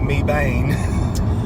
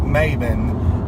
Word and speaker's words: Mebane: in North Carolina called it's called Mebane it's spelled MA in EB a inning so everybody would call it me bein me bein but the locals called it mavin mavin that makes sense